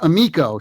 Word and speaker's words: Amico: so I gotta say it's pronounced amiko see now you just learn one guys it's a good thing this is what's why we're doing this but amiko is the italian word for friend that's where it comes